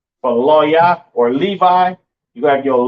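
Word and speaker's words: לוי: And you pronounce Levi in the Hebrew, Loya, Loya, right?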